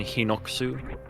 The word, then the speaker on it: Hinox: Jay's also playing a Zelda game and calls them Hinox. I also call them Hinox. Yeah, the No, you son of a gun! I mean, is this just 'cause the he pronounced it Japanese differently. pronunciation Hinoksu?